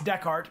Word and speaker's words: Dechart: someone whose last name is always mispronounced. It's Dechart, by the way.